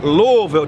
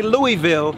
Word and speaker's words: Louisville: Brother is from Louisville. Don't say Louisville. Say Louisville.